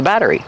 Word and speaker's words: battery: Battery. Battery. The double T changes to a fast D. Batter. Batter. Plus the R, re, and the long E sound like green beans. Battery. Battery. Kevin, what are these called?